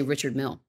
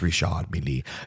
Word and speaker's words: Richard Mille: Yeah, because a lot of people say Richard Mille, and that ain't right. Richard. No, it's Richard Mille.